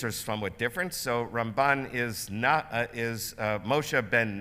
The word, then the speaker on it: Ramban: be confused with rambam usually rambam gets pronounced on the first syllable ramban on the last syllable the last letter is